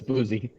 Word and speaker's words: Boosey: Is it Boosey? Am I correct with that? Yes, it's Boozy.